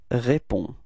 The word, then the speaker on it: réponds: All right, so the funny thing is that you've got to write this DS, but of course, as usual in French, you don't pronounce it, okay? So it's répond. Repeat. Okay. Second form is tu, and then you can see that it's DS as well, so it's the same form, it's tu réponds. Repeat. Tu réponds. So same thing, you don't pronounce DS at the end.